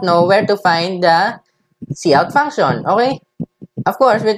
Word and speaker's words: cout: this is pronounced as cout, this is not pronounced as sout or whatever, it's pronounced as cout.